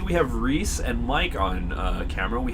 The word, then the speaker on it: Rhys: it might be of rice rice okay making a confirmation for us we'd appreciate it because we don't want to say your name wrong absolutely it's Reese it's Reese okay I was completely wrong yet it's all right